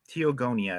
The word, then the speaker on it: Teogonia: n i a okay teogonia I believe is the way it's pronounced yeah Stephen and I